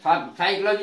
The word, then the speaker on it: psychology: हिंदी अर्थ है मनोविज्ञान, तो मनोविज्ञान में भी पी साइलेंट रहता है जो एस से पहले आता है। एस अक्षर के पूर्व आया हुआ पी ये साइलेंट रहता है साइकोलॉजी वर्ड में भी।